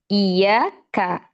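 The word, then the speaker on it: إِيَّاكَ: Ya, biasanya kita kalau bacanya iya karena jadi kafnya ini dimasukkan ke nun, maka artinya berbeda. Ya, maka harus dipisah oh iya.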